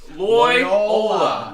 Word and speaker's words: Loyola: Loyola.